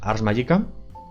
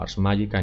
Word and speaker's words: Ars Magica: El otro es Ars Magica, se pronuncia así en latín, o Ars Magica en inglés.